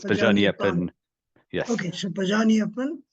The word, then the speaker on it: Pajaniappane: So once you say in It's French, you written don't in pronounce the E. French. It Okay, is. fine. It is. So So it's Pajaniappane.